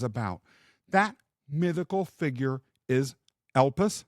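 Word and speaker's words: Elpis: that mythical figure is elpus sometimes pronounced elpie the Greek Spirit of Hope now before we dive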